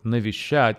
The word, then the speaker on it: Навещать: in Russian okay so nishad has three syllables sh and the stress falls on the last syllable shat okay uh listen